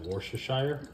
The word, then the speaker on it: Worcestershire: do you say that Worcestershire I think you've got it right it washes here and then just come